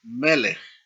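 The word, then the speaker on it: מֶלֶךְ: Los sustantivos que tienen dos sílabas, donde cae el acento sobre la primera sílaba, se llaman sustantivos segolados, porque no normalmente tienen dos segol. Por ejemplo, aquí, ¿no? Melej, con dos segol.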